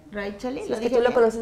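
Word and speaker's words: Raíchali: Raí, lo dijiste bien. Raichali.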